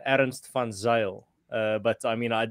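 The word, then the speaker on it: Ernst van Zyl: uh perfect form there when it comes to my my surname almost there it's uh aaron stefan zale uh but i mean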